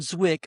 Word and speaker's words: Zwick: And last little tidbit here for pre-production, Edward Zik, I keep saying it wrong, Edward Zwick initially hesitated about how the African-American cast would